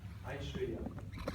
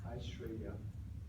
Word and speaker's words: Aishwarya: Aishwarya. Did I pronounce correctly? A-I-S? W-A-R-Y-A. Aishwarya.